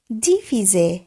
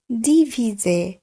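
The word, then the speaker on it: divisé: ভাগ চিহ্ন, সেটিকে বলবো ডিভিজে ডিভিজে।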